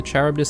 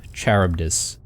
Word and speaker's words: Charybdis: to the Charybdis system.